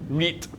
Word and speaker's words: REIT: about is rates now I've been seeing this rate thing a lot it's pronounced re re R is a okay fine rate re okay Reit uh so they're basically real estate index investment